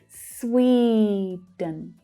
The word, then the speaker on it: Sweden: So that stressed syllable is the first syllable and it's a long vowel sound. Sweden.